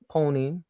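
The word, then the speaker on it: PONYC: whole group together called Pony pony C the C is silent and we just dropped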